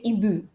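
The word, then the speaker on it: hiboux: H is a silent letter. For X, they ibu.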